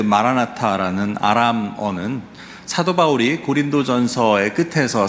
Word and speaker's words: 마라나타: 그런데 꼭 기억하실 것이 하나 있는데요, 이 마라나타는 발음을 잘 하셔야 합니다. 저도 그렇고 자칫하면 마라난타와 혼동하기 쉬운데, 마라난타가 누군지 기억하시나요? 마라난타는 백제 불교를 처음으로 소개한 인도의 승려입니다. 그래서 마라나타가 맞고요, 마라난타는 틀립니다.